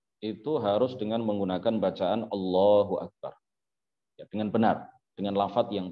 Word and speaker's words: Allahu Akbar: harus dengan menggunakan bacaan Allahu Akbar dengan benar dengan lafaz yang benar tidak sah kalau seseorang membacanya dengan memanjangkan huruf-huruf ba Allahu akbar misalkan ya dengan memanjangkan huruf ba maka tidak sah salatnya